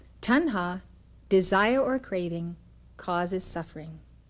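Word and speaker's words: tanha: slipped out of joint Gautama said the Tonga which is spelled ta NHA tan ha desire or craving causes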